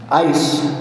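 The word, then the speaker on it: εἰς: trust in God and Trust in ice pronounces like what you put in your soft drink um is believe or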